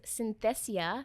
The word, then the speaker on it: Synthesia: It's called Synthesia. So spell that one, yes.